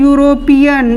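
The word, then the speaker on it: European: लेकिन जब हम इसका उच्चारण करते हैं तो यहाँ हम क्या लिख रहे हैं, यूरोपियन, य शुरू क्या हो रहा है, य। और ये य किसका पार्ट है, व्यंजन वर्ण का।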